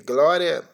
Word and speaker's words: Glória: E Glória se pronuncia da mesma forma, só enrola a língua no R.